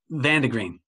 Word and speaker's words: Van der Green: name please uh underground van der green okay kind of like kind of like green the color all right tom is